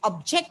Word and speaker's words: object: Can you have you noticed now what is the stress given on that word? The stress is given on GECT. yes. So here it is used as a verb, right? It is used as a verb. So when the word is used as a verb, it is very visible that the stress should be given on the second part